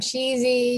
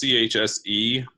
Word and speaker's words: CHSE: you say it because i've heard cheesy jesse officially the official way is chse because any of the other things are just obviously means of ease of communication i know for myself